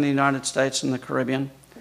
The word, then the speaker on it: Caribbean: United States and the Caribbean. Some people pronounce it Caribbean.